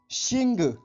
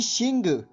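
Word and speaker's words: xìng: आज का हमारा दूसरा शब्द है शिंग। इस शिंग शब्द की स्पेलिंग है XING, शिंग।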